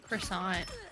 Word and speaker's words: croissant: It's like how Americans say croissant, Oh yeah. but I say croissant. Croissant.